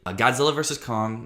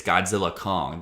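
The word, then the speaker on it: Godzilla x Kong: that's also a possibility Godzilla versus Kong or that's not the right way to say it's Godzilla Kong the the x is silent uh but Godzilla Kong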